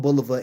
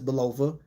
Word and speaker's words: Bulova: And I understand some people, you know, I guess the correct pronunciation is Bulova, but Bulova sounds more comfortable to me. I'm more comfortable saying Bulova.